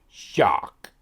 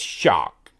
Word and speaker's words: XOC: the XO C and the way they were pronouncing it was shock like almost like shark but no are in there so it's shock and they were saying